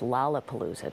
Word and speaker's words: Lollapalooza: Next year, we're going to have to go to Lollapalooza, so you know that it's pronounced Lollapalooza, Dr.